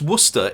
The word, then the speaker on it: Worcester: So there is a town in Massachusetts spelled the exact same way, but they call it Worcester. Yeah, it's Worcester in Worersha.